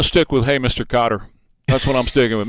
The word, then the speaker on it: Qatar: For some reason the the mainstream networks you hear them say Cutter.